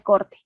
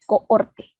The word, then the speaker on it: cohorte: es un estudio de corte no existe el estudio de corte se pronuncia de mal lo que es o no son los estudios de cohorte una h intermedia ayunado no existen los